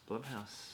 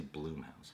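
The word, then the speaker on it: Blumhouse: ] all the time I see Bloom house Blum House most people do but it how does Jason say it he says Jason Blum he's saying it wrong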